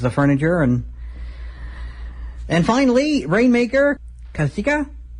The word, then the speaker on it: Kazuchika: And finally, Rainmaker Kazuchika, because apparently you don't pronounce the U. If Asuka and Shinsuke Nakamura taught me anything, you don't pronounce the U in Japanese, at least in Japanese names.